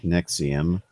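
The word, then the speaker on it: NXIVM: of the nxi VM pronounced nexium like that like the the heartburn nexium group not having it based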